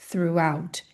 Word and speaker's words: throughout: Então não é throughout e sim throughout. Percebe que a ênfase tá aqui no final?